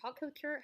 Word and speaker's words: haute couture: Haute couture. Haute couture. Okay." You read the sentence. Read the sentence because I can't say a word. Sweptail is the automotive equivalent of haute couture.